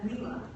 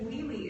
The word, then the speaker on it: Leely: story um dear leely our kindergarten teacher used to pronounce your name as Leela as if leely is such an impossible name to pronounce we always laughed about that